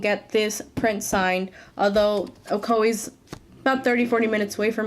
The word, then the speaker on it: Ocoee: Novelties Comics and Games, which is located in Ocoee. I had to ask someone how to pronounce that because I had no idea how to pronounce that city in Florida, Ocoee.